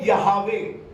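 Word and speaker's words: Yahweh: उन्होंने इब्रानी भाषा में इसको कहा है यहवा कहा उसने क्योंकि इब्रानी भाषा में इसी नाम से परमेश्वर को जाना गया लेकिन इसका सही उच्चारण जो है इसका जो सही अर्थ अर्थ है वो है यवे प्रेज द लॉर्ड यवे और मैं थोड़ा सा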